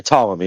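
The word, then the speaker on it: Ptolemy: Tommy. Is that so? Just the P is silent.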